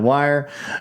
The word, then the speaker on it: Weir: Think he pronounces it Wire.